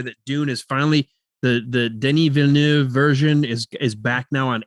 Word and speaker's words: Denis Villeneuve: I think I can't say his name, Denis Villeneuve, however you say his name. It's Denis Villeneuve.